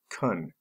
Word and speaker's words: can: tricks in this case the word can is mostly pronounced Kund number one ability practice